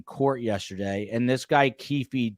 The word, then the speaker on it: Keefe: Keefe D was, that's Keefe to you, Keefe like Keith, like well, Keith.